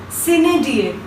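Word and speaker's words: sine die: So the first word is SINEDIE, and we pronounce it like Sinedie. We pronounce it like Sinedie.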